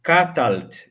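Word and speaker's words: קָטַלְתְּ: É bem melhor você pronunciar catalt.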